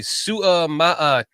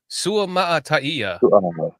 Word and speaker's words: Suamataia: for 2 months is when you see a Samoan name that you have to pronounce all of the vowels like as you would say the vowel. Like so, Kingsley would be Suamataia.